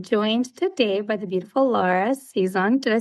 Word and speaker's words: Lara: I'm Italian, and that's totally the way all my Zias and Zios would say my name growing up. It wasn't I'm in Canada, so we're going with Lara. Not everyone can roll their tongue that way.